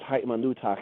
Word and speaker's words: ha'imanutak: That word ha'imanutak, in this case, it's ha'imanutak. It's got the ka sound at the end because it's possessive. It's yours, he was saying. Ha'imanutak, or ha'imanuta. Ta genders it feminine.